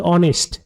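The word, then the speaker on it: honest: এর উচ্চারণ যদি অর মত হয় যেহেতু এখানে অনেস্ট নয় এটা হচ্ছে অনেস্ট এইস এর উচ্চারণ এখানে অর মত হচ্ছে অ হচ্ছে হল ভাওয়েল সাউন্ড ভাওয়েল সাউন্ড হওয়ার জন্য এখানে হচ্ছেন ব্যবহৃত হবে।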